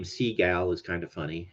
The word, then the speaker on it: Seagal: I'm assuming it's Seagal although saying his name Seagal is kind of funny it's spelled s-e-a-g-a-l so Seagal uh but Steven Seagal